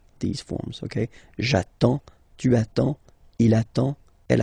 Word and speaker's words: attends: J'attends. Okay? You get D and S. Well, basically you don't pronounce them. Okay? And then you get only the sound attends. Nasal here. En. J'attends.